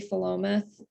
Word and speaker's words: Philomath: And it's a town name from Oregon, so it's pronounced a little oddly, Philomath, and it's short for the Greek word philomathia, which means love of learning.